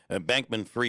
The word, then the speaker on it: Bankman-Fried: Fried, it's how it's pronounced, huh? Bankman-Fried.